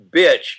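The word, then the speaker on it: Bich: And his last name is Bitch, but it's spelled B-I-C-H. And so, anyway, Phu Dat Bitch cannot get his Facebook page put on there because of his name.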